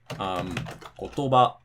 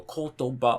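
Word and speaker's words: 言葉: you have to basically count the syllables and go kotoba, okay, it's after the ba.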